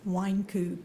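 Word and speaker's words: Wynkoop: is f r a n c s wine coup w y n k o o p all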